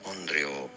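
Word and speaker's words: onryō: Onreo. Onreo. Onreo. Onreo. Long o sound at the end in English.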